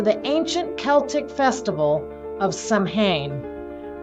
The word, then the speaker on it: Samhain: 2,000 years to the ancient Celtic Festival of samhan pronounced sawin celebrated on the night of October 31st in